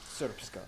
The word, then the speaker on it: Srpska: I know, it looks like it's pronounced Srpska. It's pronounced Srpska. Triple diphthongs are an amazing linguistic phenomenon.